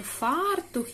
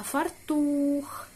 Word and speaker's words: фартух: правильно читати дане слово не фартух як зазвичай ми звикли говорити а фартух фартух повторіть А тепер запишіть